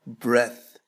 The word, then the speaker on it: breath: إذن الاسم هو breath والفعل ينطق breathe.